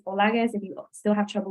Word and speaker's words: Olaguez: my name is Dr olagis it's similar to the way that you pronounce Rodriguez um but it's olagas if you still have